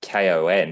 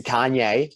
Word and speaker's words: Kanye: do you say it not kon is it kanye what that's right it's a kanye kanye man it's kanye